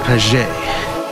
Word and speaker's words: Paget: It's pronounced paget.